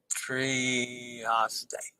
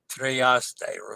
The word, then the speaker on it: Trieste: Trieste. Remember, pronounce the E's and AY as they.